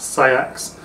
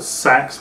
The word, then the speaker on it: seax: sax itself and that's how it would be pronounced say acts as opposed to sacks which it's like sort of felt like all